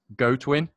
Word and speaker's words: Godwin: I think it's pronounced Chris Goatwin. So yeah, my bad there.